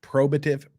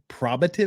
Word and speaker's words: probative: of the OS Pro probative okay I know you're from New Mexico judge but probative probative value H she just said Pro if she says it